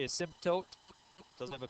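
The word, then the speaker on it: asymptote: Some people pronounce it asmtote some people pronounce it as it doesn't matter. Um dictionary and other sources allow you to put the emphasis either place. So I I say a symote doesn't have a P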